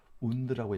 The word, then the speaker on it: wound: wound라고 읽어요. wound, 오를 발음 합해서 wound 하면 상처란 뜻이에요.